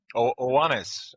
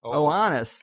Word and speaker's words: Oannes: Oannes. Oannes. That's the way I pronounce it.